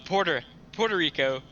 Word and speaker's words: Puerto Rico: This shit's called Puerto Rico, like a porterhouse steak.